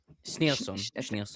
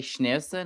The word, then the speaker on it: Schneerson: I can't pronounce his last name. I'm sorry. Schneerson. You can say Schneerson or you can say Schneerson, if that's easier.